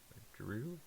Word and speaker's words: Giroud: Giroud? Yeah, that's how you say it. It's French.